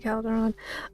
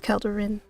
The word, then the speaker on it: Calderin: It's not Calderon. Uh, it's Calderin. Ren, not Ren.